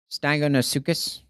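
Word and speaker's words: Stagonosuchus: Stagonosucus. So, S t a g. Whoa. Whoa. Repronounce that for me. Stagonosucus.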